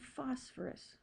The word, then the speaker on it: phosphorus: sulfur capital S and phosphorus capital P notice it's makes an F sound like phone but it's spelled with a pH just like phone so P for phosphorous